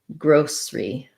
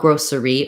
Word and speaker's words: grocery: So grocery store, first syllable stress, or grocery store. So you don't want grocery or grocery, but rather grocery. Whichever one is easier for you, and also kind of what you hear around you.